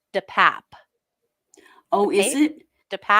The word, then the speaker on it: DePape: Oh, the only time he spoke during the arraignment Tuesday was to tell the judge how to pronounce his last name, which is DePap.